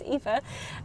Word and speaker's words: Aoife: My name is pronounced Aoife. Think of it as E-E-F-A. It's Irish, as am I, which we've already covered in the stream.